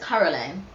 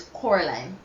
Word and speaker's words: Coraline: yes all right so he says Caroline so it's Coraline yes Coraline I knew I